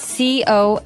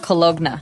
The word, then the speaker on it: cologne: It ends with, it's spelled C-O-L-O-G-N-E. So you don't really say the G. It's not cologne. Right. It's cologne.